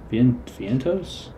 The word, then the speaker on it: Vientos: Drew Waters, Jonathan India, Mark Vientos.